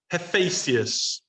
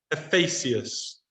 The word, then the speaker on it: Hephaestus: Hephaestus. Hephaestus.